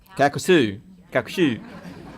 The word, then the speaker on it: Calcasieu: Calcasieu.